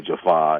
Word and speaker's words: Jaffa: some continuity between like how all the jafa say jafa and not jaffa and gl and all that.